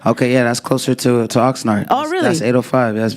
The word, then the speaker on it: Oxnard: Oxnard.